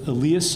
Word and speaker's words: Elias: And I'm going to work hard to pronounce this correctly because it's Elias. Elias, thank you very much. It's pronounced Elias Wolford.